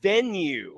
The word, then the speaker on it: Venu: forgot to to remember it's called venue venue but it's not spelled like venue like antic ven like this is an athletic venue gu it's spelled yeah is it v n y u no oh that's not oh that's not bad but no it's actually venu yeah oh gross yeah